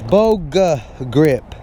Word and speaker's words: Boga Grip: I want to tell y'all real quick that how I butchered the name. It's Boga Grip.